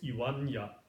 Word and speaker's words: いはんや: And there was this case, iwanya, which is spelled ihanya.